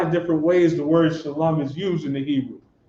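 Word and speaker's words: שלום: A Shah, a La, and a Ma is Shalom.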